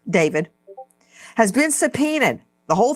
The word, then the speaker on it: d4vd: Joanna, the family of D4B, David Anthony Burke, pronounced as David, has been subpoenaed.